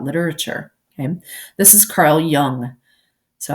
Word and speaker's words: Jung: him this is Carl Jung so I know it looks like John but it's pronounced with it like a Y sound so young then so at first